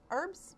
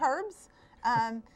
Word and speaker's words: herbs: Herbs, your preference, tomato, tomato. I say herbs. that anybody can grow in the area. It's a silent H, isn't it?